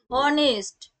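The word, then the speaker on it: honest: সেই জন্য কিন্তু এন বসেছে ভুলিয়ে ফেলবে না অনেস্ট অনেস্ট দেখো লাস্টে কি আসছে এই প্রথমে কি আসছে অ এইচ এর উচ্চারণ অ হচ্ছে সেই জন্য কিন্তু এন অনারি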